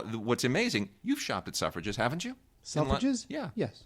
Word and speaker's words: Selfridge: Suffrage, spelled Selfridge, like self and fridge together. Oh, yeah, because But it's pronounced suffrage, as in like women's suffrage.